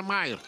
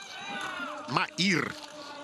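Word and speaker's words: Mair: Кьяра Майер. Маир, наверное, вот, естественно, будет произносить правильно. Потому что Майер, фамилия в разных вариантах, знаете, очень часто. И в Северной, даже Италии, в Тироле, да, и вот в Австрии встречается. Там разное написание бывает. Ну и произношение немножко по-другому. Матиас Майер современный.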